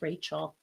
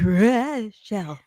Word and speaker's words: Rochelle: Most people call her Rachel. That's because I've said it wrong 7,000 times. And she Me has too. very kindly, She. gently reminded me. And this time I actually stopped myself. I'm like, Rochelle.